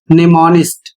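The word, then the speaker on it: mnemonist: दूसरा शब्द है एम एन ई एम ओ एन आई एस टी और इसका उच्चारण होता है निमोनिस्ट और इसकी हिंदी होती है असाधारण याददाश्त वाला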